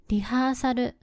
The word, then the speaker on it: リハーサル: Now, let's look at "リハーサル" (rehearsal). What do you think it means? This is the Japanese term for "rehearsal." It sounds quite different from the English pronunciation.